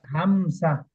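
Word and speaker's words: همزة: হয় হামজা হামজা হামজা হা এই যে এই হাটা উচ্চারণ করতে হামজা হামজা হামজা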